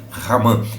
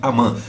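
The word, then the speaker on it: Hamã: é uma gcta aqui talvez você ouça a pronúncia ou você mesmo pronuncie Amã no tá errado tá porque nós estamos no Brasil no Brasil o h não tem som então é hã como e e o o o original ele tem um som aspirado o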